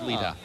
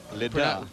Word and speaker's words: Leda: Her name was Leda. Pronounced Leda. Leda, that's correct.